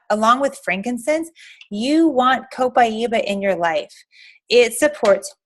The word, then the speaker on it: copaiba: and down the hatch copaiba this is how you say it copaiba a lot of people wonder how to say it because it's something that